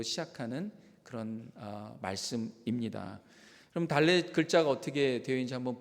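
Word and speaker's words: דלת: 오늘 네 번째 시간이니까 히브리어 네 번째 단어인 달렛으로 시작하는 그런 말씀입니다. 그럼 달렛 글자가 어떻게 되어 있는지 한번 볼까요? 저렇게 되어 있어요. 우리나라 첫 번째 그 한글인 기역처럼 되어 있지만 발음은 드 발음이 나는 달렛입니다.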